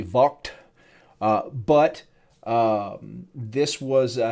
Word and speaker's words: Vogt: was done by a peter vaught vogt i think in german it's actually vault uh but this was